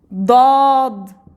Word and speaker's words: ضاد: Dad. It is somehow strong D. Dal, let's say D in English. Dad, it's strong D. Dad.